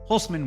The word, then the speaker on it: Holcman: That's Holcman with the C and pronounced with an S.